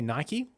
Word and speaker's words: Nike: Also, here in Australia, we say Nike, but Americans say Nike.